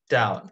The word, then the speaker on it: doubt: is no room for down and the b is silent okay you rock this